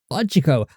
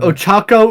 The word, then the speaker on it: Ochako: How the fuck did you say her name? Are you talking about Ochako Uraraka? Ochako? Yeah. Okay. Okay, you said her name weird as fuck. I say her name like a white person sometimes. I do that with a lot of Asian names because I am white. Ochako was already a white way of saying it.